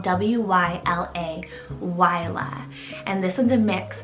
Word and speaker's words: Wyla: then for something a little different we have wyla it's called w-y-l-a yla and this one's a mix of scottish and